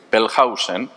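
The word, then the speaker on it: Wellhausen: intentar escribir esto Julius bellhausen la W en alemán se pronuncia como V fuerte no como u y Julius bellhausen escribió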